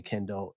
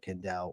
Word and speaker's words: Kendell: not pronouncing it right the emphasis on Dell much appreciated my guy 90% of people call me Kendall instead of Kendell when they see my